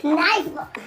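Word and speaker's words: knife: छड़ी हो गई चक्कू और यहां पे के बाद एन ए रहा है नाइट की स्पेलिंग में तो फिर से वही फॉर्मूला लागू होगा तो इससे बोलेंगे नाइस अरे मैडम उसे बता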